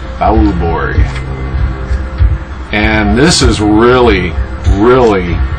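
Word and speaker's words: Beaubourg: favorite and it's evangelis Borg it's b e a u b o u r g Borg and this is really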